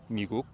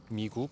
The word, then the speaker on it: 미국: making fun of, but one of the stereotypes that Koreans have about English speakers pronouncing Korean is that 미국 becomes like 미국, which I've never really understood because every time I've heard an American pronounce 미국 with a very, very American accent, it's always come out as a G and not a K. It's come out like 미국, not 미국. So I don't know where that's from.